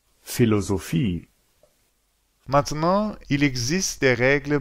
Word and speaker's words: Philosophie: Et puis il y a un PH qui se prononce comme un F, tout comme dans Philosophie, Maintenant, il existe des règles pour la prononciation des voyelles.